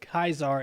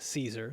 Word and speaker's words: Caesar: One of them said, "You'll earn more points with the gamers by pronouncing it Kaisar instead of Caesar."